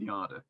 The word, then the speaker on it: Yada: a long conversation about how to pronounce yarda um yada or yadda but we're going with yada um your repair is